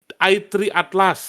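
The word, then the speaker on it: 3I/ATLAS: I3 gimana sih bacanya? I3 Atlas. Nah. Oh, i3 Atlas gitu cara bacanya.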